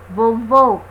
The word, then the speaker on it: vovô: Vovô. Olha a diferença de vovô para vovó, né? Só a vogal aberta e a vogal fechada.